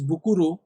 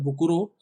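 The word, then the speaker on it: 袋: भाग्य या luck, and फुकुरो pronounced as बुकुरो meaning bag. और दूसरा भाग है फुकुरो, जिसको प्रोनाउंस करा जाता है बुकुरो, जिसका मतलब होता है बैग।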